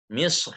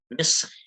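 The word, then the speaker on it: مصر: Contoh Misr. Misr itu boleh tebal boleh tipis, boleh Misr atau Misr.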